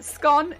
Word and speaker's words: scone: Is it scone as in gone or scone as in cone?